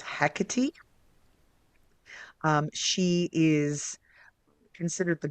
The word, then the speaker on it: Hecate: I and and the the most common and sort of generally accepted pronunciation even though none of us speak ancient Greek is hecy um she is considered